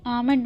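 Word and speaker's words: almond: बादाम, बादाम को इंग्लिश में आमंड बोलते हैं. यहाँ एल साइलेंट है.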